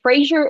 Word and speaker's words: Fraser: Frasier LPC and Frasier is spelled like eraser with an F so f r a